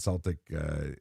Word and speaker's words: Celtic: Uh, and, uh, Celtic and Celtic says it's either or. You could pronounce it either way.